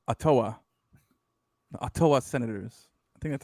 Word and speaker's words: Ottawa: don't know i'm trying to make you know ottawa bro ottawa i like uh they got some nice uh